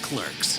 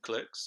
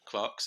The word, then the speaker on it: Clerks: In 2019, Clerks, or Clarks if you're a fan of pronouncing stuff wrong, was selected for preservation